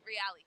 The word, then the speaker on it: Reali: That ball is really good. I was telling Real, right? Is that how you say his name? Yeah, Reali. Reali.